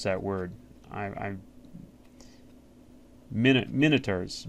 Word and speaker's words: Minotaurs: I I minotaurs. Minotaurs is actually how you pronounce I I know I always pronounce that monitors like a computer monitor.